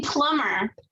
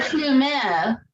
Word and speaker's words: Plumer: I'm good, but it's just Plumber. Plumber? Like somebody that fixes toilets, but I don't fix toilets, and it's not spelled the same way. So, but you know, if you want to say Plumer, it's fancy, but you don't have to.